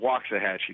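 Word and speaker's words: Waxahachie: signor and John waxah waxah hatchee yeah they pronounce it waxah hatchee like wa that was close waxah hatchee the head coach at waah waah hatche easy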